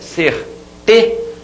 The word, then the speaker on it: certeza: Certeza. Você demora mais a voz aqui nessa sílaba, que é a penúltima.